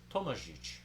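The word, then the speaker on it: Tomažič: And you'll see the accents on the Z and the C. So that's Tomazik, correctly pronounced as Tomajic.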